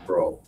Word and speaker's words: Breaux: It's Breaux is the way it's spelled, his name. And it's Delvin Bro.